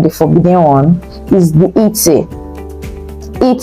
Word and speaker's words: et: So the one that is interdite, let's start with the forbidden one, is the et. Et. So the T in et, which means and, is not pronounced.